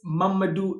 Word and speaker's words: Mamadou: In Arabic, I think you would pronounce it Muhammad, but I'm from Guinea Conakry, and this is how the Fulanis pronounce Muhammad. They say Mamadou.